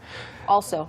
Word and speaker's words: also: People often say also. Also? But it's not also. It's Right, it's also. also. Your mouth is open, you're like, ah.